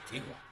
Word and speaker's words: Antigua: Beach Caribbean will be Antigua. Antigga. It's Anti Anti Antigga. Or is it Antigua? Antigga. Antigga. Well, it's spelled Antigua, but it's they say the locals say Antiga.